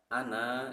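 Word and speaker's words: أنا: Kalimat ana itu memakai alif, tapi di atasnya ada tanda sifrun mustatil atau tanda oval, maka itu harus dibaca qasar, pendek. Jadi dibaca ana, dibacanya menjadi ana, wala ana.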